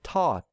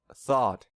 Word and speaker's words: thought: So a non-native speaker might pronounce this word as taught instead of thought.